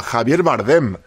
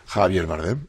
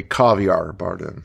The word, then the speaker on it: Javier Bardem: Javier Bardem, how to pronounce? Ah, Javier Bardem. Javier Bardem.